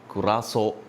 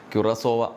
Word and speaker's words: Curaçao: മത്സരം കണ്ടിരിക്കുകയാണ് ക്യുറാസോവ ക്യുറാസോ ക്യുറാസോ എന്ന മൂന്ന് പല രീതിയിലുള്ള ഉച്ചാരണങ്ങൾ വരുന്നുണ്ട് മലയാളത്തിൽ ക്യുറാസോവ എന്ന് നമുക്ക് പറയാംസോവ അല്ല ക്യുറാസോ എന്നാണ് നമ്മൾ അതിന്റെ ശബ്ദം ഗൂഗിളിൽ അടിച്ചു നോക്കുമ്പോൾ കാണുന്നത് നമുക്ക് എന്തായാലും കാര്യം മനസ്സിലായല്ലോ